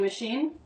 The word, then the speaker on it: machine: Washing machine. Washing machine. Look, we have the SH sound twice. Once it's spelled with an SH and in machine with a CH. Same sound spelled differently.